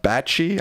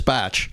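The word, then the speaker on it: Bache: Handwriting expert Emma Bachie, I'm not sure if that's how you say her name. B A C H E. Yes. Says I think it's Batch. Batch says the signature is absolutely his despite Trump's denials.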